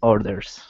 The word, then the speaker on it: orders: Control your tongue on that R, okay. Until you get to the D. That's when you want to create the R sound.